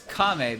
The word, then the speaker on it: Kame: of his house either it's kame house because it's the first uh the first part of the kamehameha wave right so it's kame